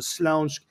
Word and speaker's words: Śląsk: of Poland in Silesia, in a region properly pronounced in Polish, the Śląsk, and the city was Świętochowice, which is this little place by Katowice, which is a big steel city.